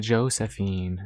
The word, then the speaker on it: Josephine: Okay, so we'll set it to Josephine.